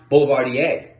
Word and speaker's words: Boulevardier: town or part of the bond and it's pronounced boulevardier the recipe first appears in a volume called